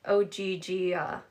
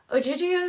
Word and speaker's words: Ogygia: She pronounced it like Ogygia.